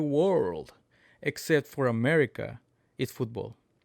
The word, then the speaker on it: fútbol: F U accent on the U TB O L.